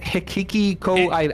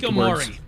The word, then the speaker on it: Hikikomori: Is it Hikiko? It's Hikikomori. You just call them Hiki.